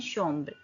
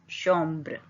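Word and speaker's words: chambre: अ room, room को बोलते हैं शोम्ब्र, श सी एच का साउंड श, ओम ब्र, युन शोम्ब्र।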